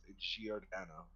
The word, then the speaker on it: Giordano: I'm pretty sure it's pronounced Giordano.